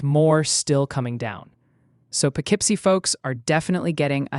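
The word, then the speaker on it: Poughkeepsie: You mean Pipsy. That's how you say it.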